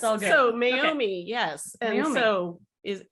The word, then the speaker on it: Meiomi: So we went with Lisa's recommendation today, the Meiomi. Did I say that right? What? That's right. You said it right. Yeah, Meiomi Pinot Noir.